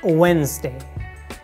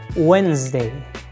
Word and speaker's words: Wednesday: the next word is Wednesday D is not pronounced also the letter s we pronounce like z letter Wednesday Wednesday not Wednesday Wednesday